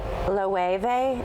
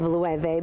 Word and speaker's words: Loewe: Is that how you pronounce it? Yeah, I think those are really hot, and Loewe. Loewe, yes, good.